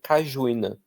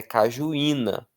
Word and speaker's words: cajuína: Se você não conhece essa palavra e se você se depara com ela, é bem comum que você leia cajuína, tá? Mas é cajuína. Então, acento e ato e sozinho e é a parte tônica da palavra proteína.